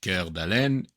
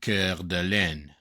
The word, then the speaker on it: Coeur d'Alene: They named them Coeur d'Alene, heart of an awl. And then, obviously, in American English, it became Coeur d'Alene. Right? Coeur d'Alene.